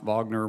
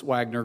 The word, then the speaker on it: Wagner: about uh you know I believe is pronounced Wagner but I believe the media pronounces Wagner group all the time I and I'm